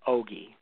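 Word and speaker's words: ogee: The eye is an ogi. The word ogi is spelled O-G-E-E, and it means a slit or window.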